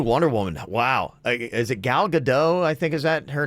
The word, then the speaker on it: Gal Gadot: Is it Gal Gadot?